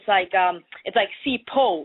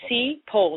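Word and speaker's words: Sipho: My name is an African name, so it's like Sipo. Like take out the H and then you just have Sipo, like sea, like the sea, and po.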